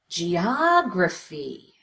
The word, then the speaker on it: geography: But I want you to get comfortable with exaggerating the strongest syllable. Make it louder, longer, with an obvious change in pitch. Geography.